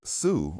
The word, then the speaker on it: Xu: turns out there are names in Chinese that are pronounced Sue or close to it. The closest one is a family name written in English as XU or SU.